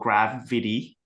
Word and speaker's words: Grav.id: It's called GravVidi, spelled out grav.id. Um, a little play on words and pronunciation, but we're pretty much